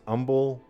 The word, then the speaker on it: Humble: Like there's a town in Texas called Humble, but some people pronounce Umble. Yeah. Don't pronounce I've always like heard Humble. Yeah, Humble.